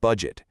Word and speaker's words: budget: Then, we have the soft G in a word like budget. It's two syllables with a soft sound.